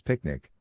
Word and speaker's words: PQNK: PQNK, to be pronounced as picnic, which stands for Paedar Qudratti Nizam Kashatqari, and means, the Regenerative and Sustainable Pristine Organic Farming System.